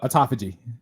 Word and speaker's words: autophagy: the process and by the way this word is spelled a-u-t-o-p-h-a-g-y that how you say it yeah it's a autophagy autophagy yeah a tophage you did good man